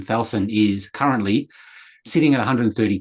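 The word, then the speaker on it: Thalson: Thalsan, which is different how we pronounce it, we've just named it a project. T H A L S O N, Thalsan, is currently sitting at 130 pages.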